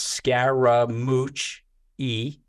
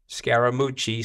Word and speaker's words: Scaramucci: call us and so I have four syllables of my last name it's Scara mooch e Scara moochi so he started calling